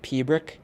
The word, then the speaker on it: piobaireachd: So for any of you people who are classical singers, like opera singers and stuff like that, if you know you probably know what a German CH sounds like.